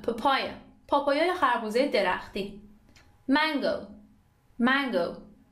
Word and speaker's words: papaya: Number ten, papaya, papaya. Stress روی سیلاب دومه, papaya, پاپایای خربوزه درختی.